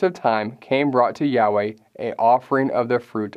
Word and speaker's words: Yahweh: We often place that back into the Scriptures as He intended, and based on our best scholarly guess and many others, we pronounce that as Yahweh.